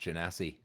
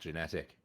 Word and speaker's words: genasi: Then It's pronounced genasi, not genetic. Come on now, pick it up.